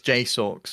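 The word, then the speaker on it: JSAUX: got the um jacewax Jace Ox how do you say it it's j socks apparently J socks uh the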